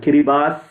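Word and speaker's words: Kiribati: environmental movement which is in kiribas kirimati is the letters but um I think kiribas is the way in which they pronounce um environmental Foundation of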